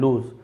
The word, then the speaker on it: lose: He did not lose courage, यहां पर भी lose, लॉस नहीं पढ़ेंगे, lose, उसने हिम्मत नहीं हारी।